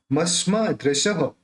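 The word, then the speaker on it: मस्मादृशः: दूसरा, मस्मा दृशः, अब ये जो विसर्ग है यहाँ पे उसका उच्चारण ह करेंगे।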